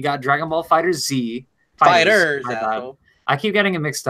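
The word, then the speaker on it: FighterZ: and why is it Dragon Ball fighter Z first of all it's pronounced fighters yeah I know yes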